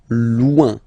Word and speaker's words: loin: So remember, when you get this combination O-I-N, it's ouin, ouin, ouin, okay? Loin, all right?